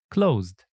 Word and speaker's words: closed: The letter E in ED is not usually pronounced, and ED is pronounced like D or T. For example, closed, stopped.